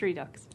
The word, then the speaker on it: redox: Okay, but it is pronounced redox. Well, I mean, it's a shortening of two words. So, reduction and oxidation. So where you put the emphasis, it's entirely up to you.